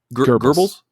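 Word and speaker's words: Goebbels: Uh and on top of that Hitler and Gable is it gables? You is it pronounced gable? Gerbles I never gerbles Hitler. Yeah. Yeah. I never pronounced that right.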